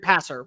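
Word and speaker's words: Paysour: player North Carolina uh how do you say it Kobe is it pesur pacau uh North Carol wide receiver yeah passer pass it's like passer yeah okay 6115 yeah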